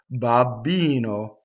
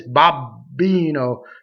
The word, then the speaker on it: babbino: so if you notice there's a double b and um what I hear a lot of times is that Americans singers sing, they stop their their jaw almost snaps shut.